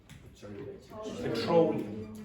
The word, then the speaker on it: petroleum: Petroleum. Petroleum. Okay, so it's petrol, but petroleum. Petrol, petrol, petroleum, petroleum. Now, you will hear that